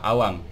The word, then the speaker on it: abang: Nah, ini ada di bukunya, contohnya itu tertulis abang tapi sebenarnya pengucapannya adalah awang.